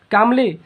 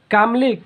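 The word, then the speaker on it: calmly: उसके बाद होता है कामली कामली इसमें एल साइलेंट हो कामली मींस होता है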